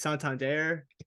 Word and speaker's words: Santander: So it's Santander.